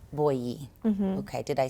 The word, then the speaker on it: Boyyi: Boyyi is just very simple, straightforward.